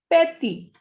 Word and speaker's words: petit: The first example is P-E-T-I-T. Petty. Petty ends with T, so you will not pronounce P.